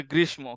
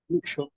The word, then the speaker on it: গ্রীষ্ম: যখন হচ্ছে একটা ওয়ার্ডের সাথে আরেকটা ওয়ার্ড সংযুক্ত থাকবে, বিশেষ করে তখন হচ্ছে প্রথম ওয়ার্ডটাই দুইবার উচ্চারণ করবা, ঠিক আছে? যেমন হচ্ছে আরো আছে ওয়ার্ড, যেমন হচ্ছে অনেকে বলে গ্রীষ্ম, কিন্তু হবে কি গ্রীষ্ম।